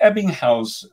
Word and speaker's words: Ebbinghaus: get his thoughts and uh is it the ebbinghaus uh forgetting okay is that how you pronounce it yeah good and your how your